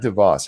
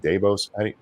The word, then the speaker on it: Davos: do you say it it's not DeVos how do you say it is it Davos Davos Davos Davos is